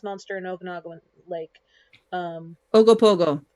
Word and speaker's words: Ogopogo: in okinawa lake um ogopogo ogopogo thank you i knew i was gonna say it wrong pick up a pogo stick you oh go in pogo you know i'll try